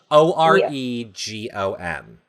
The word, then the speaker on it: Oregon: it's a state and it is spelled o r e g o n how do you say that word o r g o r e g o n Oregon thank you Maddie I agree it is Oregon I think only absolutely